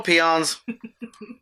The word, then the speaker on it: peons: is a Beyonce yeah peons little peons was pronounced that way yes it's pronounced peons um they have the